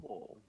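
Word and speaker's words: garrobo: and it's actually a Spanish word. It's Spanish? Yeah. Garobo. Garobo. Garogo. Now you got to Garobo. roll your R's.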